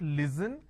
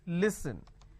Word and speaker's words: listen: and they say listen it's not listen it's listen even if I add ing it's a ning you are not listening I'm listening to music it's not listening it's listening clear so don't make that